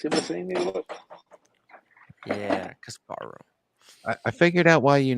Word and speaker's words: Kasparov: Wait, Tim, you're Ukrainian and you're mispronouncing Kasparov's name.